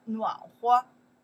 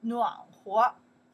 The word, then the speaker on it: 暖和: You can say 暖和, you can say 暖和, okay. I like pronounce 暖和, okay.